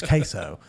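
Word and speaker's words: CaseOh: looked up queso and it's spelled C A S E O H. So it's not like queso like you're thinking of like the cheese like quo. It's queso or they just call him case.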